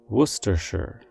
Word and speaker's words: Worcestershire: sauce gets its name while the spelling suggests it should be pronounced in four syllables it is actually said in three Worcestershire Worcestershire for example the secret